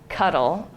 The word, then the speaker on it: CDDL: approved open source license called cddl or cuddle is how we pronounced it so i've forgotten more